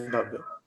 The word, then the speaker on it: Bhavye: I'm pronouncing the name right? It's Bhavya only, right? Yeah, it's Bhavya.